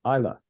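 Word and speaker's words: Islay: was the Isle of Isa uh it's that's how it's pronounced and it was in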